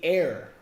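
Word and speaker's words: heir: are here is the air the H is silent no it become that's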